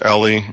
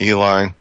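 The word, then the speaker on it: Eley: There's this, the Olympic grade stuff comes out of England, and I've heard it pronounced Ellie and Eli. I think it's probably Ellie is probably the more proper pronunciation.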